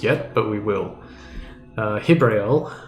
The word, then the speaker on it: Jibrael: Uh Hibrael, uh with spelled with a J has now will now